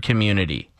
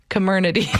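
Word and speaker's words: Comirnaty: to pronounce that one just get drunk and say the word community community that's funny the moderna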